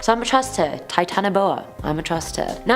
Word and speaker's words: Titanoboa: Titanoboa.